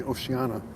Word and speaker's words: Oceania: oceania island ocean ia o-c-e-a-n-i-a oceania island some say oceana but it's not spelled that way so the jury is